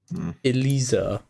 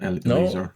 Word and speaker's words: Eliezer: And then also another one, Elisa. Whatever the fuck you want to pronounce that. No, Eliezer.